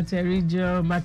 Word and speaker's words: pterygium: Yeah, PTERYGIUM. Can I commend you again for pronouncing it well correctly?